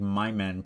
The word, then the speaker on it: Mimmense: a my monster so it's actually probably pronounced like my men and it is actually